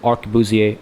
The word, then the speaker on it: arquebusier: I always struggle with this word, because I always feel like it should be pronounced like you would in French. Arquebusier. But that I can't do the weird R because it feels weird to me in the context of this word.